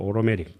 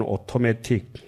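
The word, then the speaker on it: automatic: 그이 상황은 이제 영어로 하면 오로메릭 예 뉴욕 발음으로 오로메릭 영국 발음은 오토매틱 둘째는 이미 상한 것이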